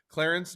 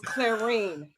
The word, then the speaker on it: Clarene: you put an extra C in there, but I'm gonna still like you, Devin. It's Clarene.